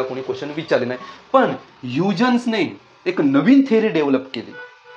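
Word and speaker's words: Huygens: spelling का बघितली का हा डच सायंटिस्ट आहे डच आणि डच मध्ये स्पेलिंग आणि प्रोन्सशन मध्ये हातभर फरक असतो पण म्हणतात काही लोक त्याला युजेन्स पण म्हणतात ओके तर याने या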